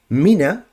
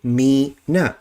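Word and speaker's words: مِنَ: A lot of times you find people who read Quran, they would read this as me. And so what will happen, rather than reading this as mina, this word, they would say me na. And that's a mistake.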